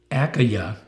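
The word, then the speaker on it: Achaia: galio was pro-counsel of and this word is pronounced akaya it doesn't sound like it but i checked it up because i'm how do you pronounce it akaya the jews with one accord rose up against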